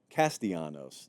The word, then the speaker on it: Castellanos: I just know I said the name wrong. Castellanos.